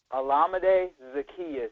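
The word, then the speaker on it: Olamide Zaccheaus: the saints how do you say his name olamide zacchaeus zacchaeus okay um you guys are great defensively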